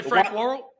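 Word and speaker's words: Frank Worrell: Did you say Frank Warl? I did say Frank Warl. Hang on, let's check in with Brennan Julian on how you say it. As long as you put the pause in.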